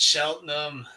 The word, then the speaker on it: Cheltenham: Sorry, is it Shelton or Sheldon? Shelton. Cheltenham. Hmm. It's pronounced Cheltenham.